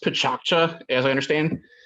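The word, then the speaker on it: Pecha Kucha: Picha Kucha, it's pronounced Pichakcha, as I understand.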